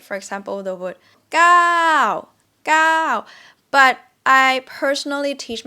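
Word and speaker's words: เก้า: say it's easier to just say like this gao gao it's like you yell gao gao rather than girl if that makes sense it's up to you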